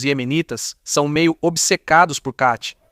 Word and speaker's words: khat: E na agricultura, você precisa entender que os iemenitas são meio obcecados por khat. O que é khat? Às vezes também se escreve com Q e, em árabe, o Q tem esse som, como mostramos no episódio sobre o Catar.